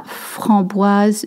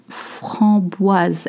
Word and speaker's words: framboise: La framboise, you notice there is a Z sound, okay? La framboise, S makes a Z sound.